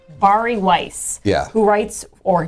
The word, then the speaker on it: Bari: took over Twitter today I think it's pronounced bari bari Weis yeah who writes